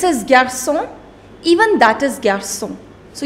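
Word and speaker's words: garçons: gerson even that is garsung so you do not pronounce the last consonant which is s okay so you make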